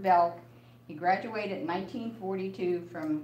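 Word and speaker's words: Bjelke: The J is silent, and it's Alfred Belk.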